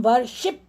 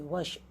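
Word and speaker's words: worship: वर्शिप, हम वर्शिप नहीं कहते, वर्शिप, वर्शिप, शिप साइलेंट रहता है, व पे हमारा स्ट्रेस रहता है, वर्शिप्ड, वर्शिप्ड, ठीक है, तो ये ध्यान रखना है।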